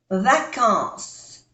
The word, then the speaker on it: vacances: se pronuncia d VAC no se pronuncia ni la e ni la S de VAC a n se pronuncia vacances vacances j'ai pris des